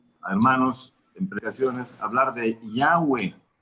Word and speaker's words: Yahweh: Porque gramaticalmente debe pronunciarse Yahweh, como está escrito ahí. Pero hemos escuchado a hermanos en predicaciones hablar de Yahweh.